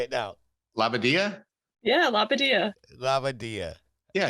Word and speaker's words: Labbadadio: Yeah, Labbadia. Labbadia. Yeah, it's Jewish, Fred. That's why you're having trouble with it. Labbadia. So actually, it sounds like it looks.